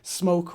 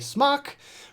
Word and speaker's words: SMOK: This is an interesting one because, yes, it is a smoke, or as they pronounce it in the UK, smock product.